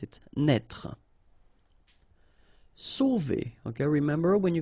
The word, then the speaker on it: sauver: Sauver. Okay, remember when you combine A and U, you get the sound O. So really like the letter O. Okay, so sauver, sauver.